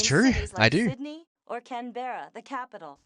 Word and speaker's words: Canberra: i do sydney or canberra the capital it's not pronounced canberra you bloody person well i want to